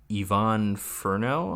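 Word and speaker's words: Yvonne Furneaux: then um the decisions uh French born actress Yvonne Ferno I I suppose that's how you'd pronounce that right yes yeah still alive at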